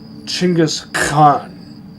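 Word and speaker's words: Genghis Khan: Genghask Khan would originally be pronounced something more like Chingis Khan, right?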